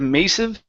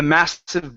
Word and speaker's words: massive: right let's go to the word massive okay instead of mive the massive book the massive book